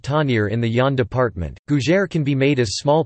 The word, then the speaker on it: gougère: a GU Jer pronounced you in French cuisine is a baked savory